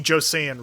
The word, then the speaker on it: Joseon: So, first of all, Laura, thank you for correcting me on the pronunciation. The Joseon region.